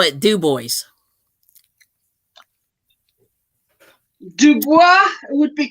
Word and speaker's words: Dubois: there's a city in Pennsylvania um that's called it's spelled Dubois but they call it Dubois would be correct yes right right so anyway